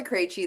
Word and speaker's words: Krejci: I'm Krejci. That's how you pronounce all of those consonants really close together.